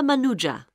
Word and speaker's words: Manuja: yes of course sorry my name is manuja uh can you spell that please m a n u j a